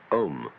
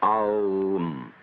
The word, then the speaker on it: Om: Chief of these is the syllable Om, or Aum, called the Pranava, or the sound of God, because it involves the whole range of the voice from the back of the throat to the lips.